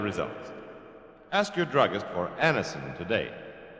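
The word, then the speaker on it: Anacin: Anisonin is like a doctor's prescription.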